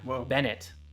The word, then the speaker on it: Bennett: i'm patrick o'rourke and medic bennett i said your name wrong that's the first time